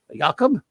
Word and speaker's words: Jacob: response okay yakob um that's the way Jack H pronounced his real name was Jacob yakob even in the unlikely